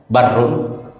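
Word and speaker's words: بَرّ: Kalau dibaca barrun itu artinya daratan. Kalau dibaca burrun itu artinya gandum. Kalau dibaca birrun biasa orang sebut birrul walidain. Birrun itu artinya kebaikan.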